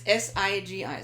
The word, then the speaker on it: Sigi: Yeah, it's not Zigi. I know. There's all kinds of different. That's right. So it's Sigi. So Sam, India, George, India. Yeah.